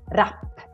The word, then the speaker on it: rap: then you need to pronounce it as rap, double consonant. So that makes this A very short, rap, rap.